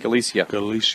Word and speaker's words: Galicia: Galicia.